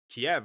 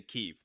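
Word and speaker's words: Kyiv: a building in like Kiev or something like that. Or I should say Kev. That's the more correctness uh correct way to say it.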